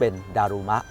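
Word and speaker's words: だるま: นะ ฮะ เดมา เนี่ย พอ มา ถึง า ประเทศ ญี่ปุ่น เนี่ย ออก เสียง เป็น ดารูมะ อ้า เหรอ ครับ ผม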